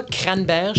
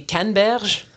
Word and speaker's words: canneberges: Tu sais, j'ai appris l'action de grâce, ça se prononce pas cranberge, c'est des canneberges.